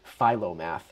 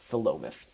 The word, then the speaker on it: Philomath: I did too when I was new, because it looks like it would be Philomath, but it's not. There's no Philo dough, it's Philomath.